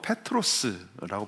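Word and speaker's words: Πέτρος: 여기서 예수님 지금 이제 워드 플레이를 하고 계시는데이 베드로는 그리스로 페트로스라고 발음을 하고요.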